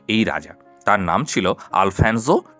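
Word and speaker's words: Alfonso: তার নাম ছিল আলফানসো টু, অর্থাৎ আলফানসো টু। কোনো কোনো বইয়ে তোমরা কিন্তু আলফানসো টুও পাবে, কারণ ইংরেজি উচ্চারণটা এস দিয়ে জ উচ্চারণ করা হয়, আবার স উচ্চারণ করা হয়।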